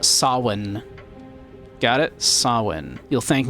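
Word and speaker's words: Samhain: cool, you don't say s You don't say Sam Hayne. That is not Sam Hane. That is pronounced sawin.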